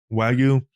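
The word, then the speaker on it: Wagyu: that um uh the is it pronounced Wu or Wagu? Wagu.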